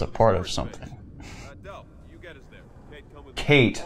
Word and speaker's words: Kait: a part of something Kate not cat excuse me dell as I the other guy is it us does it spell it k ay t kait ok well yeah that's Kate yeah the subtitles have clarified